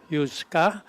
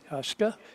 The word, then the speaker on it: Huesca: Scott, Jaden Poole, Hector Yuska, and James Oakley. Coaches for the middle school. Aiden. And that's Huesca. Yeah. Correction on the pronunciation of number 70, Hector Huska.